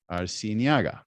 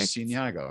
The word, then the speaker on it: Arciniega: Now we have another individual here it's Faith Arciniega, right? As I said it right? Yes. Okay, Perfect. Arciniega.